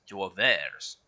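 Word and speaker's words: Douvres: As I found out, this is how the French would pronounce Dover, is Dovers.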